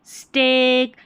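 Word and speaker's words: steak: चलिए, निम्न शब्दों में ई ए का उच्चारण दीर्घ मतलब लंबा, यहाँ पर ए यानी कि ए हो रहा है, ये जो स्पेलिंग्स है ना, जैसे ब्रेक, ये, स्टेक, यहाँ पर इन तीनों स्पेलिंग्स में ई ए का उच्चारण ए हो रहा है, ठीक है, याद रखें।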